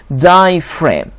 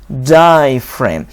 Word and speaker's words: diaphragm: f die frame and g is silent diaphragm diaphragm the diaphragm is the